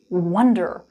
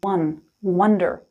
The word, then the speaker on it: wonder: nouns what's up with wonder why did I not change wonder is a really unique verb but first things first the pronunciation one Wonder like the number one Wonder not wonder when we wonder we